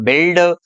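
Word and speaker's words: build: तो इस प्रकार है, यहाँ पर ये साइलेंट रहेगा। इसको बोलेंगे हम बिल्ड, बिल्डिंग, बिल्ट, biscuit, circuit, guess, guest, गाइड, गिल्ट, guilty, guitar.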